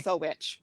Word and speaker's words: Wittowich: Wittowich. Wittowich. So Widow Witch. Okay. Widow Witch.